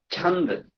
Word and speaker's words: chanda: Chanda. It is what's called the pronunciation is chanda.